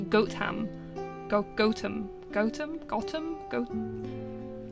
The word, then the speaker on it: Gotham: a place name so you wouldn't actually merge together the T and the H it would be goam